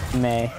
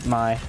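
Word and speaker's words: Mei: I always call her May or Mai. Like, I always think the E is silent or something.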